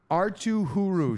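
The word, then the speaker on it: Arttu Hyry: Artuu Hyry. Sean, you got the pronunciation confirmed from the player himself.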